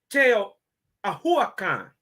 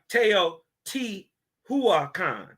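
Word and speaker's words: Teotihuacan: Teo Ahua Khan. The T, the second T, is silent. So it's like it's almost not there. It's not Teo T Hua Khan. It's Teo Ahua Khan.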